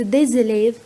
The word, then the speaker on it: des élèves: ليه هنا نطقت صوت ز وقلت des élèves؟ علشان كلمة élève بادية بإن فويال بحرف متحرك، والجملة دي فيها ملحوظة مهمة أتمنى تكونوا أخدتوا بالكم منها.